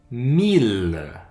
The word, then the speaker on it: mille: ville c'est une exception une autre mille comme million ou milliards troisième exception